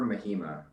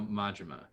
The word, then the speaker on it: Majima: No, Majima. Majima. Is that how you pronounce it? Really? It's Cooper Majima. Yeah. Oh wow. Nice. You learn something new every day. Yeah, Mhm. instead of you went the Spanish route, but it's the Japanese route for It is.